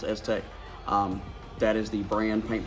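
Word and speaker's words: STEK: with you is s-tech it's spelled s-t-e-k but pronounced Aztec that is the brand paint protection film we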